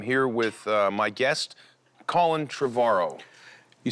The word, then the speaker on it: Trevorrow: with my guest Colin travaro you said it right finally trevorrow like tomorrow yeah there you go